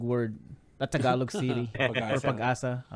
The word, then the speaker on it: Pag-asa: How's it pronounced? I've been calling it Pagasa, but it's not It's pronounced that way. Pag-asa. Pagasa? Pagasa. Pag-asa, yes. Pag-asa.